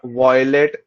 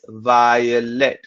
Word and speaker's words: violet: violet violet colorado it is not violet because it does not rhyme with toilet it is violet we say by uh lens violence violin it is via not voi so repeat each word